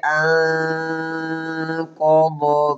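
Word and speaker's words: أنقض: আল্লাযী আনকাযা যহরাক। গুণ্য হবে, ইকফার গুণ্য। আনকাযা, দদ মোটা হবে।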